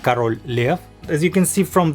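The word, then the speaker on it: Король Лев: title is written here in Russian in it's pronounced Carol Lea as you can see from the cava it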